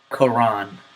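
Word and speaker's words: قرآن: want you to hear the difference or and quran that's the first word alright man right man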